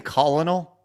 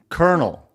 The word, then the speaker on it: Colonel: You're saying Colal?" Colonal. Colonel. What? Star Colonel. Blabs. It's a military position. Anyway, Star Colonel. Oh my god. That's not how you pronounce Colonel, bro.